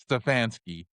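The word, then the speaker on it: Stefanski: Stfansky.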